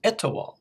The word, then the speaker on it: Etowah: It's Etowah. That's Etowah.